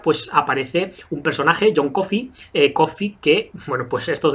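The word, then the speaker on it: Coffey: aparece un personaje John coffee coffee que bueno pues estos detalles de Stephen King que tanto que tanto molan que se pronuncia como café pero se escribe diferente y esto lo repita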